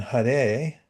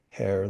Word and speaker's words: Hare: And Hare, not pronounced hare like a rabbit, but Hare, the spiritual energy of the original conscious source.